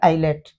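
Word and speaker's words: islet: आई और एल की वजह से एल एस साइलेंट हो गया आईलेट।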